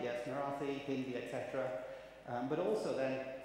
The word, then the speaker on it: Marathi: Marathi, yes, Marathi, Hindi, etc.